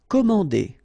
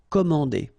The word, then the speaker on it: commander: Commander. Okay, remember A and N together, so it's nasal, en. Commander.